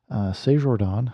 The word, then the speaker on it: CestJordan: Say Jordan, maybe it's just Jordan, but it looks French to me, so I'm going to pronounce it with a French accent as best as I can.